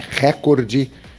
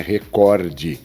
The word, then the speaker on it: recorde: É recorde ou seria recorde? Vamos pensar? É recorde. A palavra não é record. Vem do inglês record.